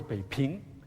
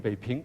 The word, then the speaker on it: Beiping: So therefore, the words Beiping, P-I-P-I-N-G, Ping, pronounced Ping, the second tone, is used in Taiwan only.